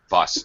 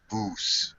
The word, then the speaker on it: bus: Carlos, a little shorter vowel on bus. It's bus, not bus. All right. So short sound.